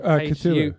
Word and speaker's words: Cthulhu: Now, I don't know how to pronounce this. It's Cthulhu, Cthulhu coin.